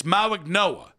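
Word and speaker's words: Mauigoa: Which, again, I'm saying this name 3 different ways. It's Mauignoa. That's how you say it.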